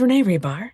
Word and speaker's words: Hribar: So my name is Renee Hribar. The H is silent.